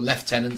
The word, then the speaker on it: lieutenant: Space Marine Primaris Lieutenant, or Lieutenant, sorry, to use the correct pronunciation.